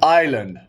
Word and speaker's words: island: do when I'm alone Island I'll give you five seconds five 4 3 two one like debris island has a silent s after the I HSS da Noah Kia